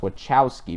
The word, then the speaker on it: Wachowski: It should be pronounced Wachowski because there's a CH in there, but no one seems to. English is stupid.